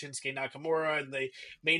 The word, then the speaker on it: Shinsuke Nakamura: Like, yeah, they may not know that Shinsuke Nakamura's name is pronounced Shinsuke Nakamura, and they may not know that Asuka is pronounced Asuka.